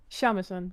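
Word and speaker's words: shamisen: Shamisan. That's how you pronounce it.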